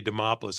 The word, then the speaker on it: Demopoulos: introduction anybody can say demopoulos I'm impressed cuz it rhymes with Acropolis and as far as